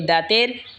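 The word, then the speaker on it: ض: এরপর হলো দত। জিহ্বার আগার কিনারা ওপরের মারের দাঁতের গোড়ার সঙ্গে লাগা উচ্চারণ হবে দত।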